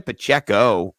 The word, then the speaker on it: Pacheco: Well, I've got a guy who you could sell low, and that's Isaiah Pacheco, rhymes with sell low, So I thought that could be, you could sell him too.